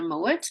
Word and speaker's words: Mowat: So my main family surnames are Mowat.